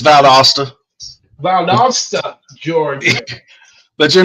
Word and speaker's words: Valdosta: and uh with cross the line paranormal from Vala Georgia did I see that first name r it's valasta Vala Georgia but you're not you're not the